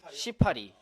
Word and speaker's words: 시파리: 서사시라고 하면은 정말 긴 분량의 글귀들도 시라고 말을 할 수도 있고 뭐 요즘 페이스북 같은 SNS에서 시파리 발음을 유의해 주세요. 시 띠고 파리.